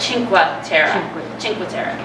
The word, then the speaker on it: Cinque Terre: Eric told me to say it right, Cinque Terre. We're going to Cinque Terre and Pisa, and then we're going to go